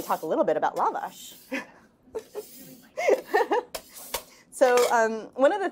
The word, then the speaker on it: lavash: i i should say i've now said it lavish enough times and we did a book talk in l.a and they said can you please tell people to pronounce it lavash and i said you know we just want